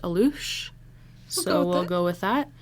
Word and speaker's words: alux: folklore this is called aloosh so it's spelled a-l-u-x but a lot of the websites were telling me it's pronounced aloosh so we'll go with